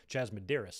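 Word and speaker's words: Chas Medeiros: NG Dre we've got Chas medeiris what's up dude appreciate the DM from you letting me know about your name pronunciation which I had it about close anyway jasmoderis I should say how Wheezy good to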